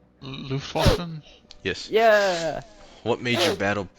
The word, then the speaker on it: Luftwaffe: I mispronounce it all the time because in German it begins with an L. Luftwaffe?